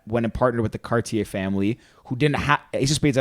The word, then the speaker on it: Cartier: The Cartier family. Cartier not family. Cartier. I say it wrong every time.